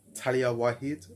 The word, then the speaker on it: Taliah Waajid: I think this is how it's said, taliahwaajid, right? I'm assuming that J there is like a silent letter.